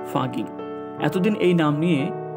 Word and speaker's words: Fucking: German ভাষায় ফাকিং শব্দের কোনো অর্থ নেই, উচ্চারণ ফাগিং।